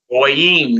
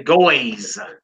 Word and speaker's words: goyim: Goyim, nations. Notice we don't say goys. Goys. Heathens, goys. No, it's goyim.